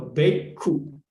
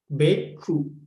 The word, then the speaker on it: bhikkhu: So K and KH is double consonant. That is why the former consonants of K connected to the following the formal syllable. So B changed to big. So bhikkhu, like this. B changed to big, bhikkhu.